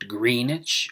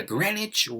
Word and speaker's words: Greenwich: the Greenwich Royal Observatory in London yes they pronounce it Greenwich not Greenidge or Greenwich but Greenwich I am sitting in